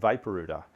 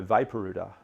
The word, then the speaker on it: Vaporooter: them about this product that I had called Vapor UTA and they were quite interested and they did